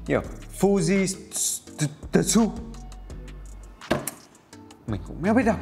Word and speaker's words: Fujitsu: Mình thì hay đọc là Fujitsu.